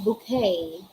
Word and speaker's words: bouquet: also have bouquet bouquet what's the pronouncey what should be the proper pronunciation for bouquet huh it is bouquet bouquet all right we also have